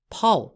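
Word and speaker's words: 炮: piece are the canons which are called pul in chinese pol spelt p-a-o there are two pole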